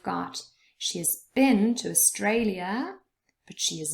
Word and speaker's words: Australia: has been to australia australia has three syllables and the middle one is stressed australia but she has not